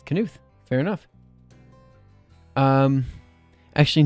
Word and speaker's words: Knuth: The K is pronounced. Really? That sounds weird. Why would you pronounce the K?